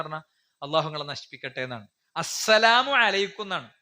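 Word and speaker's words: السلام عليكم: പോലും പ്രവാചകൻ എടുക്കുന്ന സ്റ്റെപ്പ്, യഹൂദികൾ വന്നിട്ട് പ്രവാചകനോട് പറഞ്ഞു അസ്സാമു അലൈക്കും. വളരെ ശ്രദ്ധിക്കണം. നമ്മളൊക്കെ സലാം അൽപ്പായി പോണ രൂപമാണ് അസ്സാം അലൈക്കും എന്ന് പറയും. എന്താ അസ്സാം അലൈക്കും എന്ന് പറഞ്ഞാൽ? അള്ളാഹു നിങ്ങളെ നശിപ്പിക്കട്ടെ എന്നാണ്. അസ്സലാമു അലൈക്കും എന്നാണ്.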